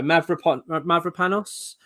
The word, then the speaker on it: Mavropanos: Right, I've got to try and pronounce this name now. Mavropanos, for the Greek defender.